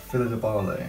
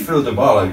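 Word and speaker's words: Phyllida Barlow: Philida Barlow. Is indeed Philida Barlow, yes. I really struggle to pronounce her name, but I'm glad you got it right.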